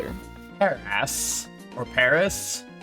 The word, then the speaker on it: Paras: Paris, or Paris. It's sort of just pronounced like Paris, like the city, but it's spelled like Paras.